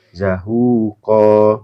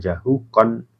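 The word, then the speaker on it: زهوقا: Ini kalau diwakafkan kan zahuqa, bukan jahukon, tapi kalau diwakafkan zahuqa.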